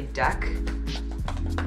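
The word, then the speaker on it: deque: a sidebar there is another data structure called a deck spelled like that so don't confuse that with DQ so recall that queues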